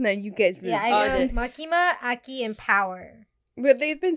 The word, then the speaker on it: Aki: how do you say his name a key Aki what what's this I did not write the